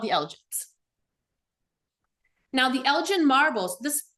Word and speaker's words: Elgin: Now the Elgen marbles this correctly pronounced the Elgen marbles are a collection of